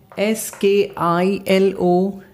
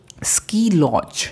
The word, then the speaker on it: ski lodge: S-K-I-L-O-D-G-E. Ski lodge. It's not sky.